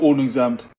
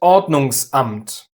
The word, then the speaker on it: Ordnungsamt: A general rule is, if a syllable starts with a vowel, especially after a prefix, you use the glottal stop. So, it's not Yeah, "Hallo Ordnungsamt". But, "Ordnungsamt".